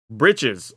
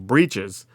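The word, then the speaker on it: Breeches: Britches, or as some people pronounce the hard pronunciation, Breaches.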